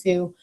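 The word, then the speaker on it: Tsu: So Sue, T-S-U-E, but it's pronounced Sue.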